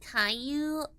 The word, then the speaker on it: Caillou: Oh, that's pronounced Caillou.